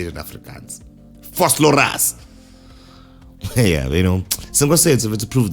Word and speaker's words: Vosloorus: I keep saying Vosloorus with the Vosloorus accent. I don't want to say it as if I'm saying it in Afrikaans, because I don't know how to say it in Afrikaans.